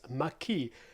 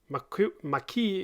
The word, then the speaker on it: Maquis: my latest kickstarter delivery it's mckee at least i think that's how it's pronounced uh it's a work